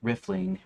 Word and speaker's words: riffling: ransacking, stealing, rifling, riffling, pronounced riffling, rhymes with sniffling or piffle. The vowel sound is short, like a riff or gift.